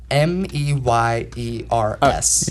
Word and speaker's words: Mayer: But no, it's all in Mayer. the Oscar Mayer, but you pronounce it Meyer.